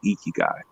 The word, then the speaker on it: ikigai: IKIGAI. I pronounce it ikigai, but it's Japanese, but it may be IKIGAI.